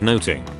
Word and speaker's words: nothing: forgetting the fourth thing that noting again pronounced note I was a pun on music notes and that's why there's